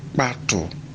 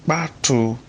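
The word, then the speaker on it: kpatu: Now, pato, the A has a rising stress mark, and then the U also has a rising stress mark from left to right, but the U has a dot under it.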